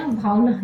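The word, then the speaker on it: Bhaona: उसके बाद बेयर सहरिया भावना, है ना, भावना यही प्रोनाउंसिएशन होगी, बेयर सहरिया भावना, ये फेस्टिवल भी आपका असम में मनाया जाता है।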